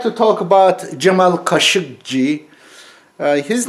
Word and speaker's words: Khashoggi: to talk about Jamal keshavjee his name my last name really Cara qu'ici is a Turkish word somehow mispronounced in Arabic even more mispronounced in 'english I cannot recognize Kashuk she means the